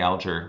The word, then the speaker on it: Alger: So with the Fanny Alger, especially, or Fanny Alger, whichever you would prefer to say, I've heard it pronounced both ways.